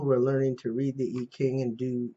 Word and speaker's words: I Ching: and i got it from the e king readings um which uh uh is spelled this way okay it's in beijing i ching and some places that want to pronounce it american but anyway it answers